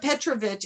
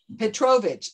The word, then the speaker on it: Petrovich: The accent is on the No, it's on the O. It's the first syllable. It's Petrovich. It's on the second syllable. Petrov. It's always on the next to the last syllable.